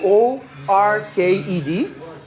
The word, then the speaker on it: worked: is yeah the way you spell it is wo r ke D but the pronunciation is not working the pronunciation is worked